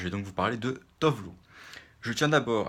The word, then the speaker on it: Tove Lo: Alors, je vais la prononcer à l'européenne, à la non suédoise, hein, à l'américaine aussi. Tovlo.